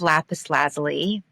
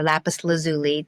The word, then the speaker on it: Lapis Lazuli: voiced the character of Lapis Lazley or Lapis Lazuli, depending on who you talk to, how it's pronounced.